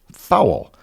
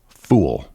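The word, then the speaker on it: foul: the menu spelled fo u l and I pronounced it fowl because it was spelled the same as fowl ball. However, it turned out to be pronounced fool.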